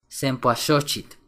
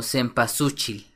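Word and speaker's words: cempoalxochitl: la palabra sosit shit sempoa shit qu significa flor de veintena y se compone de las palabras sempu 20 y shit flor también ampliamente mal pronunciada como sempasuchil nesal coyot que significa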